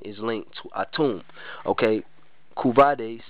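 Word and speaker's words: couvade: linked to atum okay kuade c o u v a d e if I'm pronouncing it right a custom In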